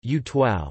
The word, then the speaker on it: Utuado: Don Ricardo originated in Utuado, Spanish pronunciation, Utuao, a municipality of Puerto Rico located in the central mountainous region of the island known as La Cordillera Central.